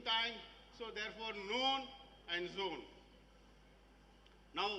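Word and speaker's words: zoon: So if noon is midday, zone is midnight. Zone, Z-O-O-N. Why zone? Because 00 there, O-O is there in the middle. It rhymes with noon.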